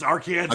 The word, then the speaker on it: Arkansas: Okay, and you still pronounce it Arkansas as well, correct? Yeah, it's Arkansas, Okay.